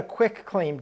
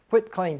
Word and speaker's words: quitclaim: oh I got a quick claim deed it's not quick it's quit Qi T quit claim deed so first of